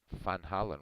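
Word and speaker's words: Van Halen: the United States Eddie Van Hollen Van Hollen which is actually how you say it Dutch fun Island you thought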